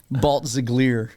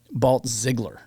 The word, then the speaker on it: Balltzglier: Balt Ziggler Ziggler. Well, here's the thing. My family grew up saying Balt Ziggler.